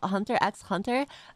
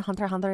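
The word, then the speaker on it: Hunter × Hunter: family and also hunter x hunter i always pronounced it hunter x hunter until people told me it was hunter ander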